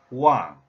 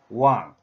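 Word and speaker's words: 王: When this character is pronounced, Wang, the tone number 4, this one, Wang, which means to rule, to reign over, or to govern.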